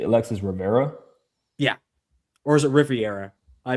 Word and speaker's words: Rivera: You said Alexis Rivera. Or is it Riviera? I may be. It's not I only looked Riviera, at. you shithead. Riviera. He's probably It's not Puerto Riviera. Rican though. Austin Rivera.